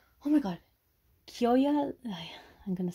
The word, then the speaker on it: Kyoya: When I see his name, like, written down, my mind just thinks. Koya. Koya senpai. Or Kiyoya. Kiyoya. Kiyoya.